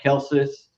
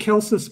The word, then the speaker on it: Celsus: Well, the argument that Celsus makes, and I actually think it should be Celsus if we're going to go by classical Latin pronunciation, but however you pronounce